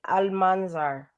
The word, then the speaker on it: Almanzar: Delcalis Marlenis Almanzar.